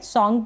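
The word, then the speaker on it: song: ये है सॉन्ग, इसको सोंग ना पढ़े, सॉन्ग पढ़ेंगे, सॉन्ग, ऑ यानी ये जो ओ है ना, इसको ऑ प्रोनाउंस किया जा रहा है, सॉन्ग।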